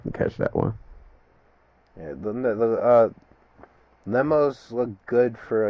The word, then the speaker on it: Lemos: Lemos. Lemos. But I also missed that fight. But I heard it was pretty entertaining, so I got to go back and catch that one. Yeah, Lemos looked good for like the first 5 minutes